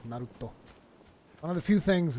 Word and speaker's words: Naruto: I think one of the few things that I've memorized from watching Naruto is, it's not Naruto. Naruto is like the American pronunciation. It's Naruto.